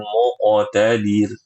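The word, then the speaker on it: مقتدر: Muqtadir itu pendek. Ya, jadi bacanya fi maq'adi sidqin 'inda malikim muqtadir. Gitu. Oh iya, Ustaz.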